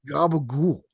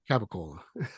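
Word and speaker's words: capicola: like what is this Gaba goul it's actually caola what how do you spell that cap I Cola so where's the G don't worry about it it's it's a Jersey accent all right you plug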